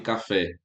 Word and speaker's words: café: Que no caso de café é aqui o fé, e de pitu sabemos que é o tu, beleza?